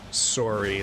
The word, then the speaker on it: sorry: So Orphea says sorry like it rhymes with the words, or it has the same phonemes as soar, the verb.